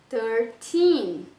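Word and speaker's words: thirteen: O 13, como eu falei, eu tenho que colocar nos adolescentes lá, né? O teen, a força da minha palavra no teen. Stressed syllable, por isso que eu coloquei em maiúsculo. Então, você pronuncia 13, 13, certo? Força no teen.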